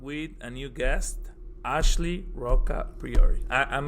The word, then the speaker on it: Roccapriore: And now I'm with a new guest, Ashley Roccapriore.